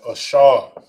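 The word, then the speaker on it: אשר: And you pronounce it in the Hebrew as Ashar. Ashar. Okay. Ashar. You got and Shah. You got and then you got Shah and Ra. It's connected to make Shar. That's Ashar.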